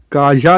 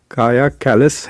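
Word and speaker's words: Kaja Kallas: तो इनका नाम है काया काया काजा लिखते हैं लेकिन इट्स प्रोनाउंस काया काया कैलस है शी इस क्वाइट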